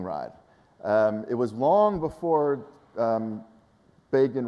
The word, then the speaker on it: Begin: It was long before Begin rhymes with Fagin, to which, by the way, I think it was Sharon, who was then defending Begin, responded, and time rhymes with slime.